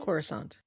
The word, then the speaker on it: Coruscant: can plead her case to the Senate on Coruscant. Is that how we say it? Corissant. Corissant. Okay. The a lot of the pronunciations will trip me up.